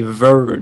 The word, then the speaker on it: Verge: On le prononce à l'anglaise, donc c'est Verge.